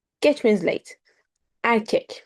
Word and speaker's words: erkek: Erkek means boy. Erkek. There are two E here, but E here. The first E sounds as A. The second one sounds as E.